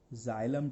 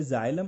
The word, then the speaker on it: xylem: Water को transport करने के लिए water is transported by जाइलम tissue, XYLEM.